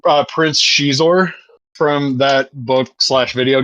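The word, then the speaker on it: Xizor: did, and I have to remember the correct pronunciation, Prince Shizor from that book slash video game, and they remade the Luke and Leia from the book slash.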